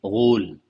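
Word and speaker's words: غول: Yang artinya, dan tidak ada ghul, dan dibacanya dengan cara memberikan harakat dhammah pada huruf ghain, ghul.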